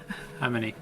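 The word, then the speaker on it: AmonI: but we pronounce it Amini. Amini, yep.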